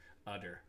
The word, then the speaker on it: Huddersfield: Drop the H because they don't pronounce it in Yorkshire. It's an Huddersfield. Udder.